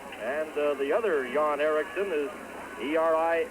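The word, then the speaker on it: Eriksson: n and the other Yan Erikson is er x e r k SS o n but uh pronounced exactly the same two yon ericon of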